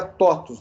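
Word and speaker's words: TOTVS: Se você vê aqui, você tem aqui, se pronuncia TOTUS, né? Por causa do V aqui em grego fica U, né?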